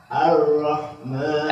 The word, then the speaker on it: الرحمن: Ar-Rahman. Buka mulutnya yang benar, pengucapan Ar-Rahmanirrahim. Nirrahim. Ulang lagi. Ar-Rahmanirrahim. Ar-Rahmanirrahim. Enggak. Coba ucap a dulu. A bukan o.